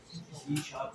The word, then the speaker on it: C#: सी शार्प चल रही है, जो आप थर्ड सेमेस्टर में पढ़ोगे।